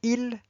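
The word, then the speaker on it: ils: on, nous, vous, and il and elle. You can see there's a S at the end, but the S is silent.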